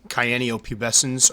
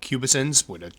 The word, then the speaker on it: cyaneopubescens: Here is one of my female Chromatopelma cyaneopubescens, or pubescens, whichever way you prefer to pronounce it.